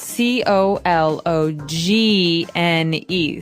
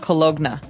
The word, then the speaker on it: cologne: It ends with uh it it's spelled C O L O G N E. So you don't really say the G. It's not cologna, right? It's cologne.